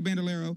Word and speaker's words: Bandolero: different kind of card here that I can pronounce the bandalero bandalero it's a bandalero and the leg these are the two things